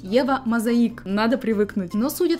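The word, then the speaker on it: Eva Mosaic: последнего до сегодняшнего дня думал что бренд называется и вам мозаика на самом деле бренд правильно произносить его мозаика надо привыкнуть но суть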